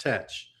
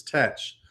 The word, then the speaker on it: Thatch: have been pronounced as touch so both teach and thatch were both pronounced the same way as touch the other pronunciation that